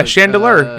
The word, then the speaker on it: Chandeleur: Chandelure Island. Am I pronouncing that wrong? I can't read that. I can't. Oh yeah, Chandelure. Yeah. You're right. Chandelure.